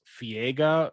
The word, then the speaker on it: Fiega: So back in March, this lady named Leah Rose Fiega. That's not even that hard one to pronounce. Viega? V or F? F.